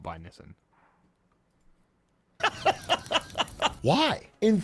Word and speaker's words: Nissan: It's like Nissan. So it's like how you pronounce it in Japanese is kind of similar to how Americans say it.